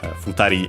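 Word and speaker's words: 二人: Futari uh story accent on the uh futari should be accent on the uh last syable instead.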